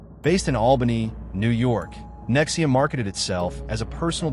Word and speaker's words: NXIVM: He called it Nexium, pronounced Nexium.